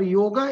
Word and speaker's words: योग: पर योगा एक अर्थवान शब्द है, पर योग एक अर्थवान शब्द है, पर योगा एक अर्थहीन शब्द है। योगा का कोई मतलब नहीं होता है, इसलिए हमें उच्चारण को ठीक करना चाहिए।